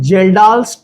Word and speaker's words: Kjeldahl: ये आ रहा है यहां से, इसको बोलते हैं जेल्डाल्स ट्रैप। क्या बोलते हैं इसको? के साइलेंट है, जेल्डाल्स ट्रैप।